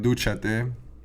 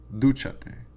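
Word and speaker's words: dúchate: And the written accent is going to go over the third vowel or syllable from the end, okay? So if we look at duchate, here's our first vowel, here's our second vowel, and our third vowel is the U, and so we say duchate, take a shower.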